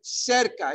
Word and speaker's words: cerca: Cerca de, think of the Latin circa, right? Close to, around, near, right? Cerca. If you mispronounce it, it's okay. People will understand you. Cerca de. If you say circa de, you're not too far off the beaten path.